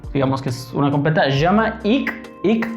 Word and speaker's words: Jamaïque: Jamaïque. Cuando veamos K-U-E al final de una palabra se pronuncia ¿ok? Desde la garganta.